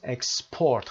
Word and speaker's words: export: تلفظ export قسمت دوم وقتی فعل باشه کلمه صادرات در قسمت دوم استرس میگیره، ولی اکسپورت صادرات به فرمت اسم قسمت اول استرس میگیره و میشه export.